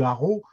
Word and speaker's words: Arras: et donc bien entendu on dit arrow oui on me dit Arras comme je le dis depuis le début que depuis la chanson de la mi bidasse sinon c'était arrow c'est c'est c'est la chanson